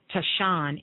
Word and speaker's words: tisane: But when you're dealing with this, you're actually dealing with, it's called Tisane, okay? This is what these herbs are made of. Now, what does that mean? Tashan is how they pronounce it, Tashan.